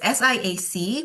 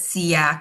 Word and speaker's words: SIAC: the name um so it's SIAC but you can call it SEAK SIAK I I mean there's a number of ways to call um the institution um